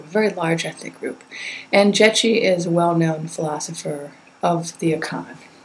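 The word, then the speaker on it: Gyekye: okay let's talk about ji spelled g ye e ke but pronounced ji the Aon philosopher who provides an argument for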